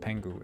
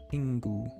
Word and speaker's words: Pingu: Um, his name's not spelled Pangu. It's spelled Pingu. E I N Gu U. Pingu.